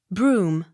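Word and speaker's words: Brougham: bowls b-r-e-a-d-a-l-b-a-n-e bridal bany accent on second syllable b r o u g h a m broom b u c h a n buckin accent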